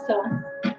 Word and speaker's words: psoas: Okay, so why does your psoas, it's spelled psoas, pronounced psoas, why does it get tight?